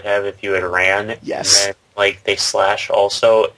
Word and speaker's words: Ys: The thing about Ys is that, Othan Felgana specifically, and the Ys series as a whole, this is, by the way, YS. Ys. Yes. That's how it's pronounced.